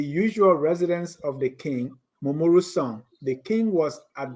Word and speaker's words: Momoru: So Momoru, we know that name is really pronounced Momoru.